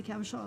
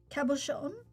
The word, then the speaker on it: cabochon: of really like the idea of the cabochon of celestial puissance.